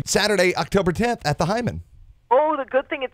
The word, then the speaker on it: Heyman: I mean, see, now it's spelled Heyman, but is it actually pronounced Hyman? It is. It's pronounced Hyman.